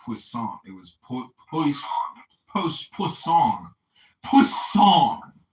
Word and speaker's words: Poisson: Not poisson. It was poisson. Poisson. Poisson. It's the name of a French scientist. It means fish. It looks like poison, right? Poisson? With two S's.